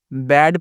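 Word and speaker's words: bad: उसके बाद क्या है बी ए डी, बैड पढ़ना है, बाद दोस्तों नहीं पढ़ना है, इसका उच्चारण गलत करेंगे, बाद करेंगे तो, बाद पढ़ेंगे तो, है ना।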